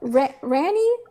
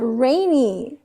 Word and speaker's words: Rainy: Ranny. I've been calling her Ranny. GV's been calling her Ranny for like almost a year. She never corrected us. Her freaking name is pronounced Rainy.